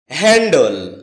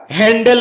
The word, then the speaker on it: handle: হ্যান্ডল এটাকে আমরা হ্যান্ডেল বলে থাকি যার সঠিক উচ্চারণ হচ্ছে হ্যান্ডল এ শব্দটি বাক্যে নাউন